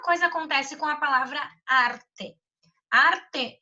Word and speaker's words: arte: Se a gente for analisar, né, arte é um termo que tem duas sílabas. A sílaba tônica é justamente esse ar.